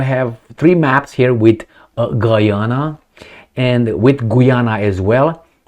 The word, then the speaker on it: Guyana: He said, "It's Guyana." And I said, "No, Guyana." Anyway, Guyana. So, just kidding. So, I don't know, I have three maps here with Guyana and with Guyana as